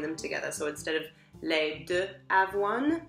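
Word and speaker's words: riz: you want rice milk that one is Le which is confusing because it's spelled r i z but you don't say the Zed Le um so that's basically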